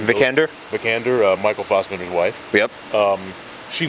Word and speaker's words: Vikander: Vikander, Michael Fassbender's wife.